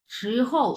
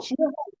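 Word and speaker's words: 时候: 时候时候时候 হুম, এই যে হৌ, 时候 হৌটা হচ্ছে নিউট্রাল টোন, হ্যাঁ। এই যে এইচ ও ইউ, এই হৌটা হচ্ছে নিউট্রাল টোন, সো এটা ধরেই ছেড়ে দিবা তুমি। প্রথমটা হচ্ছে দ্বিতীয় টোন, 2 নাম্বার টোন, সো 时候时候时候 হুম।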